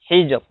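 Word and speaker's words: الحجر: Hijr ya. Hijr dibacanya tipis.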